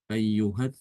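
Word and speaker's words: أيه: Ayyuhat taqolan. Dia dibaca ayyuh kalau waqaf. Kemudian yang satu lagi di surat As-Surah atau surat Zukhruf ya. Ayyuhas sakhir. Ayyuhas sakhir. Ya, itu dia dibaca ayyuh kalau waqaf.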